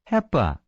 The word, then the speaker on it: HEPA: Mispronounce it. Heepa.